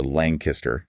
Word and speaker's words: Lancaster: These things were developed in the Conestoga River Valley in Lancaster County or Langkister, as the locals pronounce it, around the early 1700s, roughly 1717 to 1750, and they were just massive.